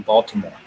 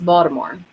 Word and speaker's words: Baltimore: is from maryland because she does not pronounce the t in baltimore yeah we don't say